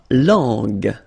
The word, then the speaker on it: langue: La langue. Remember when we've got this G and then U and then E, we get the sound G, G.